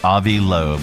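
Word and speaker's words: Loeb: Uh researcher Avi Lo, is that how you pronounce his name? Avi Lo. Avi Lobe.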